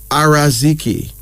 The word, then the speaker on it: Yaraziki: It's really spelled Yaraziki. It's pronounced as Araziki.